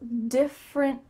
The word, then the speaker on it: different: Diff with a clear F sound. Your top teeth are on your bottom lip. Diff. And then we have rin. Rin. It kind of sounds like R-I-N, but we need to have a stopped T at the end. Different. That means that your tongue is stopped at the top of your mouth.